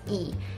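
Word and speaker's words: 이: And Lee also, we pronounce it as E.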